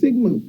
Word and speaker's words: sigma: It's pronounced sigma.